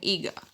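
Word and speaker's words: hija: In the word son or daughter, H is also silent there. So, son is called as ego in Spanish and daughter is called as ega in Spanish.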